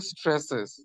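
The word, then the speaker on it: Straße: dash জি dash জি dash জি আর deer stresses স্ট্রাসে হ্যাঁ ডি স্ট্রাসে ডি স্ট্রাসে বি এর মত যেটা এটা উচ্চারণ হবে ছ এর মত হ্যাঁ এই যে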